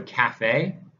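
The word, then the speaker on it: CAFFE: So just remember, two Fs for this Cafe, just like two E's in Raffi, three E's in ET. We are heavy on the syllables here. So Cafe, and as you see,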